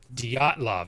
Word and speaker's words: Dyatlov: Dyatlov?